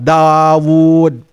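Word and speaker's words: داود: Dal, alif, wawu, wawu lagi, kemudian dal. Dawud, begitu bacanya.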